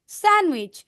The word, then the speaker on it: sandwich: okay এটা দেখো ডি লেটারটা সাইলেন্ট থাকবে নির্ঝর D letter should be silent it should be sandwich D letter silent থাকবে